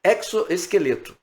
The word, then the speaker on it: exoesqueleto: Um amigo que é entomologista disse que a pronúncia correta é exoesqueleto.